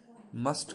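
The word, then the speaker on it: mustn't: मस्ट का है जी मस्ट नॉट, इसको मसंट पढ़ेंगे, मसंट, टी साइलेंट है।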